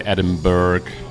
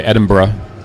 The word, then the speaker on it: Edinburgh: So the capital of Scotland is spelled Edinburgh, and people who are not familiar would say Edinburgh or Edinburgh maybe, but it's actually you say Edinburgh, and you kind of drop that little O in the middle.